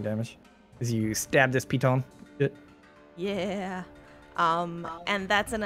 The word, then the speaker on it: piton: It's pronounced piton. Le piton.